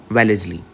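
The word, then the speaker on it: Wellesley: के हाथों चला जाता लॉर्ड वेलेजली वेलेजली सही प्रोनाउंस इंग्लिश का होता है इसका वेलेजली ठीक है कि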